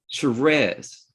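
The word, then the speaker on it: Sherrez: it's it's r e z s-h-e-r-r-e-z is sherez exactly so i was mispronouncing it so it was filed correctly um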